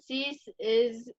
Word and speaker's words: Cease: And it looks like they're going to depend this year on Dylan Cease.